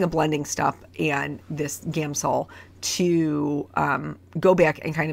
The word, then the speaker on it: Gamsol: the us it's just gamsol I always want to say Gamma Saul gamo so anyway that's wrong there's no vowel in there so anyway using a blending stuff and this gamsol to go back and